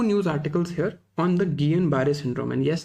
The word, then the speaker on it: Guillain-Barré: There were 2 news articles here on the Guillain-Barré syndrome, and yes, that's how it's pronounced. It's not Guillain-Barré, okay, it's Guillain-Barré. Guillain-Barré is not the best pronunciation also, it's a French word, but आप at least बोलो इसे properly.